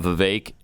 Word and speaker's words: Vivek: of the things because we talked about Vivek like in cake that's what he said that's what he told uh that's how he said for uh Glenn and Stu to remember how to pronounce his name Vivek like cake so people of the